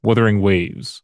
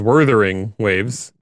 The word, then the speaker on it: Wuthering Waves: Wuthering Waves, Wuthering Waves. which Jeff Keighley continued to pronounce as Werthering Waves, Oh, well, oh.